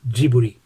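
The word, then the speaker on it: ジブリ: tonari no totoro and if you want to say ghibli in japanese it's giburi and this postcard was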